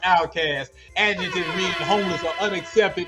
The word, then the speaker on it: Outkast: Outkast. Pronounced outcast.